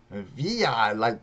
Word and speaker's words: Villa: David Villa. Did I say it right? You said it right. Villa, like Pancho Villa.